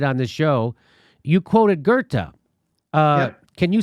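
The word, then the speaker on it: Goethe: or you did on this show you quoted gerta uh can you spell it g-o-g-e-o-t-h-a i think i think that's it something like that g-o-e-t-h-e gerta very good very good very good i was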